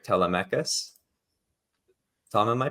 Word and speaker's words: Telemachus: It was, if I'm pronouncing this right, Telemachus. Tom, am I pronouncing that right? It's Greek. Telemachus. So. Telemachus.